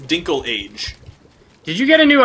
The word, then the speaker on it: Dinklage: oh delicious delicious beer Dinklage Peter Dinklage he's a good good actor I believe it's actually pronounced dinkle age did you get a